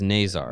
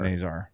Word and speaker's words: Nazar: Out of his mouth, it was Nazar. Nazar.